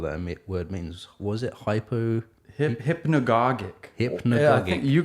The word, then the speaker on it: hypnagogic: Or hypnagogic pop. How do you pronounce that?